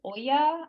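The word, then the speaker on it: olla: called it's called an Oya um o-l-l-a so it's the Spanish pronunciation okay um you might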